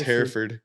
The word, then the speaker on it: Hereford: It's spelled like Hereford, but it's pronounced Hereford. Oh, Hereford? Yeah, Hereford. Oh, okay. Like hair and furred.